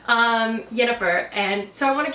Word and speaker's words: Yennefer: I may have said her name wrong last time. Yennefer, and so I want